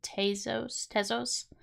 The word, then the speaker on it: Tezos: I think I have Algo and Tezos.